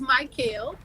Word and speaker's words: Mykael: mr old school writer my name is mike kale and a lot of people get that wrong so it's okay if